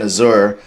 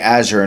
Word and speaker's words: Azure: I noticed before I was saying Azour, I'm saying Azure now. Um I got to be professional. I got to say it correctly.